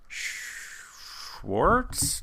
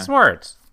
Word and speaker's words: Swartz: dental lab d and Schwarz no that's not right what is it good not bad I went instantly to the Schwarz be with you but I know that's not right how do you say your last name we say it h Schwarz yeah sarts but you can call